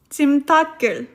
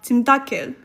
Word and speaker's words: 찜닭을: Yes, we don't pronounce the 리을 under here. 찜닭을. Because if we would pronounce it like 찜닭을, it would sound weird. It wouldn't sound natural. So it is still 찜닭을. Even if we have here a vowel after that.